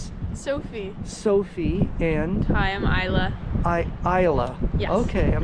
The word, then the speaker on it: Isla: Sophie, and Hi, I'm Isla. Isla. Yes. Okay, I'm not familiar with that name. It's Scottish. Scottish. How do you spell Isla? Isla with a silent S.